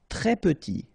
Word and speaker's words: très: Très petit. Here, final S doesn't exist. It's not pronounced.